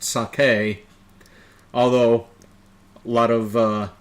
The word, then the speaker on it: sake: it wrong you meant saki I said um no it's pronounced sake like that's how they pronounce it over in Japan oh well over here